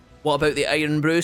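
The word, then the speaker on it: Irn-Bru: So if you guys don't know what Iron Brew is, guys, it's a soft drink that Scotland sells.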